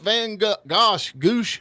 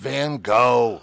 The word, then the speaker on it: Van Gogh: Hey, Vincent Van Goosh. How you say his name? Vincent Van Gogh.